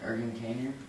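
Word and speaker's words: Ergun Caner: Ergen Kaner, okay.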